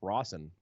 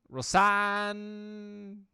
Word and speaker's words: Rosanne: I said it that way because that's how it's spelled. It looks like it's Rawson. Rosanne Williams. Yeah, the double S throws it off.